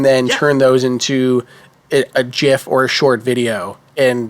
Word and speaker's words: GIF: Oh, you're a gifer, not a gifer. I'm a gifer. I am. It's a soft G. I'm a hardgy. I'm a GIF guy.